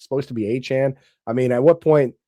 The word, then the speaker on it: Achane: So, like Achane, like Devon Achane? That's what he said. He said that his name is pronounced like Achane.